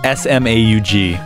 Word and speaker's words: Smaug: I'm not sure small its small life but it's spelt SMA ug yeah but it's pronounced Smaug okay that's new